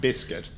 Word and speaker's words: BSCT: In fall 2002, a psychologist and a psychiatrist from Guantanamo's Behavioral Science Consultation Team, BSCT, pronounced Biscuit, and the individuals are known as Behavioral Science Consultants, BSCs.